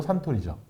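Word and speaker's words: Suntory: 선토리예요? 선? 일본식 발음으로 산토리죠. 근데 왜 영어로? 선을 산이라 불러요. 산. 왜냐면 제가 그래서 산토리라고 많이 했는데 네. 영어가 선이니까. 그렇죠. 그래서 이 창립자가 토리 신지로라는 사람이에요. 그러니까 토리상 이렇게 불렀는데 태양처럼 빛나는 토리상이다 해서 선토리. 근데 거기 발음은 산토리.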